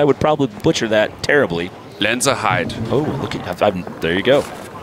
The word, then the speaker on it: Lenzerheide: I would try to pronounce her hometown for you, but I would probably butcher that terribly. Lenzerheide.